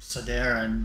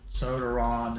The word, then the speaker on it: Sodaron: I used to pronounce my name Sodaron, but Sodaron is what most people say.